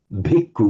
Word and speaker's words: bhikkhu: you've told us that where we say the word like bhikkhu with a b sound, in Burmese you pronounce it with just an ordinary b, but exactly.